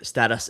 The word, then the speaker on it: Stateus: I I've kind of given up, but status is the correct pronunciation, actually.